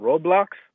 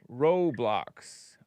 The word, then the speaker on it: Roblox: Roblox R O with a long O B L X online gaming platform and creation system by Roblox Corporation.